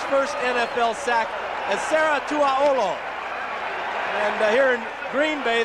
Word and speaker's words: Tuaolo: here in Green Bay the veterans have a little bit of a difficult time with the pronunciation of his Samoan name some of them call him twow some of them call him T some of them call him ET you keep making sacks like that young man they're going to get that pronunciation just right now it's second down